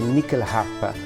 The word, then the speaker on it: nyckelharpa: And this year we're having the Nyckelharp. In Sweden it's pronounced as the Nyckelharpa, and it is a